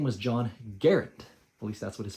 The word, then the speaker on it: Garand: Guys, his name was John Garand. At least that's what his family says is the correct pronunciation, or closest to the correct pronunciation. It rhymes with errand.